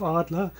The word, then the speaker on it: Adler: as Triumph Adler Triumph Arla as we would pronounce it in German right Triumph of course